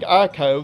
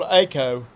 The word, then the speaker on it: Eiko: If you've been saying Eiko, then you've been saying her name wrong, because she appears in the game World of Final Fantasy, where she is called Eiko, proving that that is the correct way to say her name.